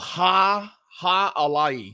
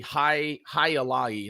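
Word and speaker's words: Jai Alai: make this beer called ha ha alay i think i said that correctly higher laggy i think is how you say it it's an ipa ipa's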